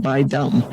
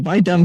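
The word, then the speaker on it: Bai Dum: varieties are bu and by dum and uh so the by dum sounds like a slur but uh it's spelled b a i and uh so it's not like the bui thing and you know being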